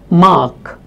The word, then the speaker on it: mark: of the word or when it is followed by a consonant sound, this R is actually not spoken. So you might have words like mark, park, where the letter is A but it is not spoken.